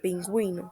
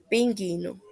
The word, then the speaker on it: pingüino: parasitar textos la diéresis la diéresis son dos puntitos que se colocan encima de la u para que esta vocal sea pronunciada como por ejemplo en las palabras vergüenza y en la palabra pingüino se escucha el sonido de la u sin embargo si no se coloca sonaría vergüenza pingüino por último los tipos